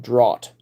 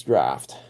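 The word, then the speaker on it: draught: didn't immediately recognize the meaning I used to pronounce that in my head drought but no it's draft and I've heard other people pronounce it that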